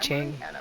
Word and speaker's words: Tiang: It's pronounced Ching. I've been pronouncing this place's name wrong the whole time.